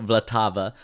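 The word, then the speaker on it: Vltava: I've I've been told and corrected as well vlatava for the Czech River yeah that's right all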